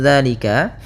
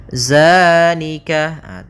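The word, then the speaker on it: ذٰلِكَ: Hati-hati dalam pelafalan zal, jangan dibaca dengan zai, jangan zalika. Dia bukan huruf za. Bukan dengan bacaan zai.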